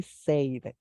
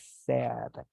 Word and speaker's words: said: Just remember, we pronounce it as said. Don't say said, it is said.